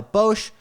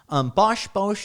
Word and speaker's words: Bosch: First of all, it's a spec system, so it's all supplied by Bosch. Bosch, am I pronouncing that right?